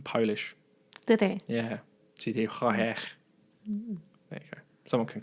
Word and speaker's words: Projekt: I know everyone says CG Project Red, but you don't actually pronounce it like that because they're Polish. It's CG Projekt.